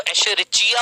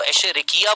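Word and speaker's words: Escherichia coli: अंग्रेजी में इसको एशेरिचिया बोलते हैं, इंग्लिश, हिंदी में इसको एशेरिकिया बोलते हैं।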